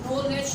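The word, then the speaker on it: knowledge: नो, आप इसको नाव नहीं पढ़ रहे, आप इसको नॉलेज पढ़ रहे हैं।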